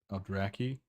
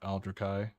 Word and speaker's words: Aldrai: Uh, let's get It's pronounced Aldrai, not Aldraai.